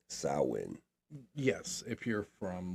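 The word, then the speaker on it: Samhain: And for those who don't know, it's actually pron it's spelled Sam Hayne but it's pronounced sin.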